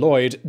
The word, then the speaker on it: Lhwyd: Past Regained In 1699, the Welsh antiquary Edward Lhwyd (pronounced “Lloyd”) just happened to be visiting Ireland.